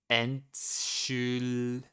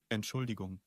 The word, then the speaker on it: Entschuldigung: He pronounces like a gung. Entschuldigung. Entschuldigung. Let me. Entschuldigung. Entschuldigung. Okay. So this one they pronounce like a G.